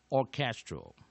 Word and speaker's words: orchestral: Second stress, second syllable,H silent, H silent, C H as k, and vowel and consonant